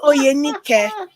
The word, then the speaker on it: Oyenike: So it's pronounced Oyenike. But yeah, let's just go for the Oyanike. abridged version.